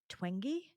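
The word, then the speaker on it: Twenge: pronounce her name but I think it's um it's Gene twingy so it's t-w-e-n-g-e I hope I pronounce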